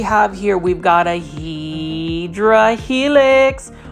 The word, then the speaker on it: Hedera helix: We've got a Hedera helix, or the correct way to say it is Hedera helix, the English ivy.